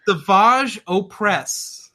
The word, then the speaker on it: Savage Opress: The Maul stuff was wonky with Savage Opress. That name alone is just... Is that how you're supposed to pronounce it, Savage? Yeah. Really? It's Savage Opress.